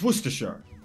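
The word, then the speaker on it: Worcester: then start it up it's not Worchester Shire it's not how it's spell it's werer Kaz Kaz is wiir werer is a place in the UK yeah that the final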